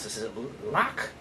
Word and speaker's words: Lochte: How do you pronounce this? Is it Lock? Lochte.